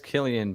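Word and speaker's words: Cillian: yeah wow I just listened to how to pronounce it says Killian but yeah that's a typical so were you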